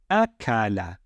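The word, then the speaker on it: أكل: So how would we pronounce this word? It would be akala, akala.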